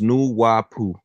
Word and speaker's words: Nawapu: Nawapu is pronounced Nuwapu.